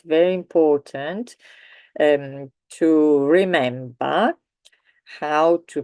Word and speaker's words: ho: Verbo avere, as you know, there is the H, in Italian H, but it is not pronounced. In fact, this one I'm going to read the whole thing. Io ho, tu hai, lui, lei